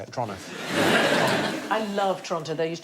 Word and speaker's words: Toronto: So it's Toronto, not Toronto. Oh, is it? Toronto. Toronto. Toronto. Like, as quick as you possibly can, like it's a crime to say it. Toronto.